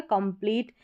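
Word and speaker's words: complete: क्योंकि लास्ट में जो इ है वो साइलेंट है। ठीक है? तो टी का उच्चारण ट रहता है। तो यह हो गया कंप्लीट।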